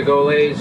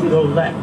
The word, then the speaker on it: Goelet: The name is Goelet. Goelet. Pronounced, because Goelet is a singer from Canada, yes. A French-Canadian, spelt differently, G-O-U, Goo. This is G-O-E, like go, stop and go, Goelet.